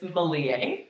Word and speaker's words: Malie: So, my full name is Malier. Yeah. So, you can say it like Somalia though, right?